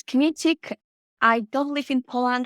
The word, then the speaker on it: Kmiecik: polish to my standing it's a bit tricky to pronounce it's kinetic I don't live in